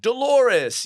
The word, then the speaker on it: Dolores: episode on Seinfeld of Dolores. You remember that one? And I was like, "Wait, what? I didn't get it. What did it rhyme with?" And my dad had to say clitoris.